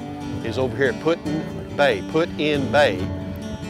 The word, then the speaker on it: Put-in-Bay: over here putting they put in bay as they pronounced put and so we might